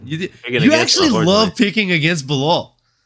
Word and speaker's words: Bilal: You actually love picking against Bilal. Or as Chael Sonnen likes to call him, Blahal. Which is like one of my favorite mispronunciations by Chael, I think. Blahal.